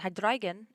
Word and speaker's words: Hydreigon: And Hydreigon is also cool. These Pokemon are pronounced with... I'm pronouncing them with the German pronunciation, as they contain the German words for 1, 2, 3.